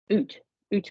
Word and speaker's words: eut: So you've got the right word, my darling, but we don't pronounce the T.